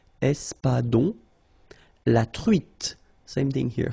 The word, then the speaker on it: espadon: O-N in your nose, nasal. On. Espadon.